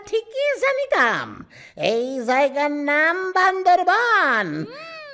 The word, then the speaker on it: বান্দরবান: এই জায়গার নাম বান্দরবান। উচ্চারণ ভুল করিয়া বান্দরবত বলিয়াছি।